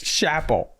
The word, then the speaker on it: Chappell: Landon says Chappelle Roan. Chappelle, that's her name. It's chapel, like a chapel for the church, but a chapel.